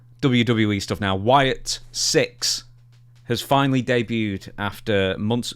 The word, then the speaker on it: Sicks: WWE stuff now Wyatt 6 has finally debuted after months it's called The Wyatt 6 but it's spel spelled like s i c k s or supposed but there's